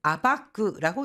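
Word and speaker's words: 暴く: 자,이어서 파헤치다 또는 드러내다라고 할 때는 아바크 아바크라고 읽습니다. 작은 대각가리 단서가 야가 때 결국은 큰 신지스 진실을 밝혀내는 계기가 되었다.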